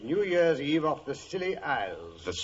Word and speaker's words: Scilly: Well, tonight I thought I'd relate how Holmes and I spent New Year's Eve off the Silly Isles.